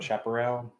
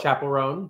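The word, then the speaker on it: Chappell Roan: um yeah um are you how do you pronounce that chaperel fans where it's the girl oh chapelon chapelon we are uh newbies we just started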